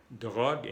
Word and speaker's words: drogue: Aprovecho para decirles que en francés, cuando hay una E al final, sin acento, no se pronuncia. La E al final no se pronuncia. Guerre y no guerre. Drogue y no drogue. No drogue, drogue.